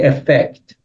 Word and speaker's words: effect: We have it in other places, like what is the effect? Effect. So effect, which is like the first, the stress is on the first syllable.